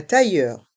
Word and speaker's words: tailleur: Ici, on entend le son ye avec les lettres I, deux L. Un tailleur. Et les voyelles E et U font le son E.